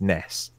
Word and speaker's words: Ness: that with the description Nintendo themselves say that Ness is pronounced it Ness alright so I